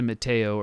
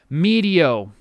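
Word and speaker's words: Meteo: pretty high so it's is it medio it's media i think i pronounced it mateo earlier medio the second level in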